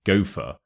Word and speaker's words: go for: the pronunciation quickly so first ly the word go and for kind of merge together as if they were one word so it's almost like goer goer gopher a gopher is an